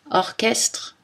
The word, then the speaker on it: orchestre: Mais attention, dans certains mots, CH se prononce K. Archaïque, archéologie, bac, cholestérol. Christ, orchestre, psychologie, technique.